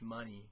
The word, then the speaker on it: Mooney: You're pronouncing it wrong. It's Fish Money.